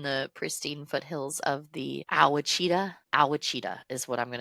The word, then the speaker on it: Ouachita: Okay, so Arkadelphia, deep within the pristine foothills of the Ouachita. Ouachita is what I'm going to pronounce it as. It's Ouachita Mountains in southwestern Arkansas.